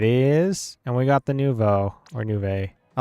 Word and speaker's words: Nouveau: You had a friend who pronounced it as Nuevo? What? Okay. And she mained it. She mained it Try Nouveau.